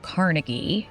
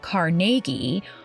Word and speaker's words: Carnegie: Andrew Carnegie, whose Scottish name was originally pronounced Carnegie, hoped to acquire a